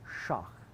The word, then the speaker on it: sheikh: And the generic term for a holy person is sheikh. But the Yezidi, as I've said many times, usually pronounce that shach, okay?